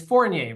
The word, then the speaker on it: Fournier: And if anybody wants more information, he pretty much dominates Google with his name, and it's Fournier, right? Is that how you say it? Yeah. Fournier.